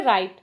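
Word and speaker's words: write: Next है राइट, राइट में बच्चों डब्लू साइलेंट है, इस पर सर्कल करेंगे।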